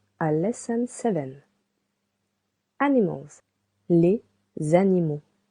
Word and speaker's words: animaux: Animals, les animaux. You can hear letter X is silent. Letter A and U together sounds anima.